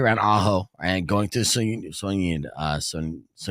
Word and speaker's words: Sonoita: One, don't speed, especially around Ajo and going through Soñita. How do you say it? Sonoita. Sonoita.